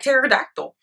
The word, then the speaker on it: pterodactyl: this but she's like no it's a silent P like pterodactyl right great this is